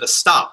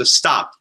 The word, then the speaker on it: estopped: So the word that Catherine used, estopped. Anyone ever heard the word estopped? Estopped is a verb which means it's spelled like this. It's like stopped.